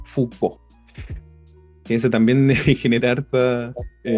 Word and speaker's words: Foucault: Ahí para los que de repente piensen en cómo pronunciarlo, no es más que una F-U-K-O, y como si tuviese la tilde en la O, Foucault.